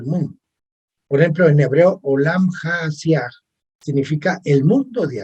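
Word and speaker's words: עולם: Antiguamente, entre los hebreos, los mundos, en hebreo se llama olam, en hebreo se pronuncia olam.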